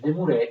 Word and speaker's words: Desmoulins: Desmoulins si scrive così, ma si legge Desmoulins, o poi Jean-Paul Marat.